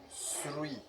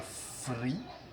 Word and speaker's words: three: Donc après tsu, nous avons donc three. Donc on ne dit pas free si vous parlez, donc si vous prononcez